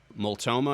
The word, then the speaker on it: Multnomah: There was a story coming out of the county, Multnomah, I guess is how you pronounce it.